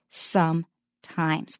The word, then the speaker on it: sometimes: it pronounce every sound and the S is pronounced as Z so sometimes sometimes don't